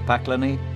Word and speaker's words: Pakleni: their strange rugged Beauty don't let yourself be fooled by the name of the islands which sounds like the word for hell in Croatian because it really derives from the resin called Pina once used for caulking boats with the closest